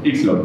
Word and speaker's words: YXLON: Allererste Frage, wie wird das richtig ausgesprochen? Du hast es gerade schon gesagt. Ixlon. Genau. Okay.